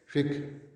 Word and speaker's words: فقہ: فقہ عام طور پر یعنی اس کا جو تلفظ ہمارے یہاں استعمال ہوتا ہے فقہ کہتے ہیں، یہ اصل لفظ فقہ ہے، فقہ، لیکن ہم اس کو اپنے تلفظ میں اپنی